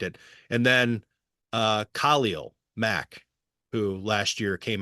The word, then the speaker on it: Khalil: Khalil. It is now changed in Pro Football Reference with the emphasis on the first syllable.